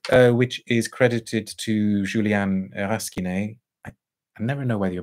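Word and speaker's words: Rasquinet: But Jest, which is credited to Julian Raskiné, I never know whether you're meant to pronounce the S in his surname. You'd think you shouldn't pronounce it, but apparently you do.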